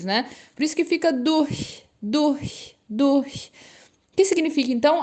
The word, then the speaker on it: durch: do Alemão chamada do atenção para pronúncia o deu essa intenção de duu duu duu o r quase que viram Lazinho dor dor e o ch atenção do CH Due e abrindo um pouquinho os dentes né por isso que